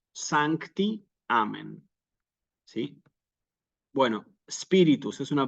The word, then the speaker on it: sancti: sí espíritus sancti nuevamente Santi una palabra bisílaba sí que como es bisílaba recordamos se acentúa siempre en la penúltima sílaba Aunque el Misal no